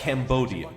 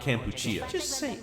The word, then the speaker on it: Cambodia: Great Britain as well that's Cambodia not cambuchia he's just one Korea